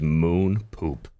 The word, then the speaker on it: Moon Poop: So the commenter from Moon Poop said, is the first streamer to say my name right. It is Moon Poop.